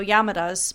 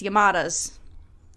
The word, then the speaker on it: Yamadas: is called my neighbors the yamadas and that pronunciation was really hard for me to not want to go yamadas but it's yamadas yamadas I got it um the film is